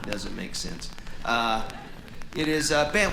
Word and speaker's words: Bengt: It is Bengt. We say Bengt. In Sweden, you would actually pronounce the G.